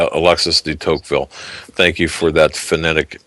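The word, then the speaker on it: Tocqueville: get into toille thank you I'm sorry D teville Alexis dville thank you for that phonetic uh pronun assistance in pronunciation Alex Alexis the teville for those of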